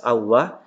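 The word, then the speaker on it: الله: ketemu dengan lafdzul jalalah yaitu lafaz Allah maka dibaca tebal dibaca tebal Wow kemudian perhatikan disini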